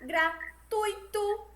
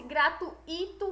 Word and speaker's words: gratuito: gratuito fortuito e fluido o acento tônico está no ruim e não rir ou seja como a gente já viu o certo é pronunciar gratuito fortuito e fluindo e não e como se fosse gratuito fortu Ito e fluido certo o que o